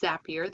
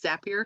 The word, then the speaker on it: Zapier: and it's it's pronounced zappier the the um owner said it's it's zappier because it makes you happier but it helps you